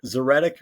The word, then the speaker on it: Zoretic: lie just being honest zeric rhymes with phonetic so that it makes